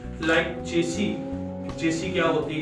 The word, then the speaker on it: chassis: तो चेसी को चेचिस भी बोलते हैं, चैसी भी बोलते हैं, अलग अलग तरह से उसको प्रोनाउंस किया जाता है, अलग अलग तरह से उसको अपनी वोकैबुलरी के अकॉर्डिंग लोग हाईलाइट करते हैं। But this is actually in basic automobile technology this is called चेसी की अगर हम बात करते